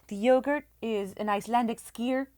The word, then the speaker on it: skyr: The yogurt is an Icelandic skyr. A skier? Yeah, Oh, I'm saying it right. S-K-Y-R.